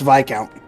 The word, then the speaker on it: Viscount: My father, Viscount Arcide, governs the town, which itself is a part of the Cruzen province. Oh, wait. What was it again? Kruitzen. Also, it's Viscount.